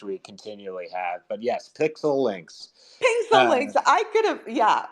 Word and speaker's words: PIXELYNX: I mean, obviously, from what I've read about PIXELYNX. You guys have a lot going on, co-founded by two huge music artists, recently acquired by Animoca. So tell us a little bit about the background of PIXELYNX and how you guys ended up here in